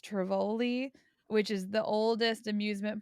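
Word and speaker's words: Tivoli: we went to um I think it's pronounced Trivoli which is the oldest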